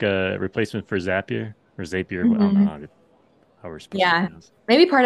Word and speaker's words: Zapier: one we've always yeah I've heard it pronounced different times every time everybody says it well if it makes sense if it's zappier because you make zaps right right I've heard